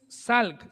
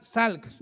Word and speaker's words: Salk: Jonas Salk, Sals, más o menos así se pronuncia su apellido.